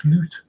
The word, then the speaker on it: Slot: L's are pronounced differently I know that but but it's it's it's slute slute yeah okay slute yeah